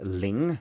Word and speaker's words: Ling: I need to use this strategy every time I introduce myself because otherwise people will mishar the ling, which is l i n g for lin.